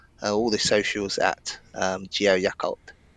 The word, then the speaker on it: Yakult: If you want to hit me up, I'm on the all the socials at Geo Yakult. Yakult, cool. Like the yogurt drink.